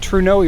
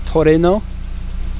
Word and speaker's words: Trueno: Now I always pronounce it Trueno, even though the Japanese pronunciation is Trueno, which I don't like saying, so I make up my own words.